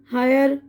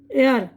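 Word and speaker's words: heir: जी नहीं, ये asthma, एयर, Iceland, डाबट, Reagan और वरैपर, वेडनेसडे नहीं है, ये है एज़मा, ये एज़मा, दमा, एयर, ये ना एयर, एच साइलेंट इसमें, बारिश, ये आइलैंड, आइलैंड बोलते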